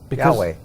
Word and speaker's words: Yahweh: How do you pronounce that? Yahweh.